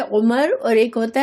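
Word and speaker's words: عمر: अरबी में सिर्फ उमर अगर लिखा हुआ होगा और इस पर ज़ेर ज़बर नहीं लिखे होंगे तो सिर्फ आइन मीम रा तो उमर पढ़ेंगे और जब वाव के साथ होगा तो इसको अमर पढ़ेंगे।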